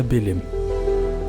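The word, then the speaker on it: Belém: حاليا المنطقة ككل صبحت سميتها بيليم، بيليم اللي كتعني باللغة العربية بيت لحم، نسبة إلى المدينة الفلسطينية بيت لحم. إدغام حرف التاء وعدم نطق حرف الحاء من طرف البرتغاليين أصبحت بيليم، بيت لحم بيليم.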